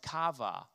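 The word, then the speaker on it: קָוָה: here uh wait actually is a word in the Hebrew pronounced kava there's a number of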